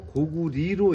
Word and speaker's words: 고구려: 그래서 이게 나라 이름으로 쓰일 때는 리로 발음을 하는게 맞다는 거지. 그래서 고려가 아니고 고리로 읽는게 맞다. 고구려가 아니고 고구리로 읽는게 맞다.